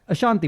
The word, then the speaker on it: Ashanti: Why do you say it like a freshie? Ashanti. Well, because she's Ashanti. Ashanti. I'm thinking of a presenter. but no, say it properly.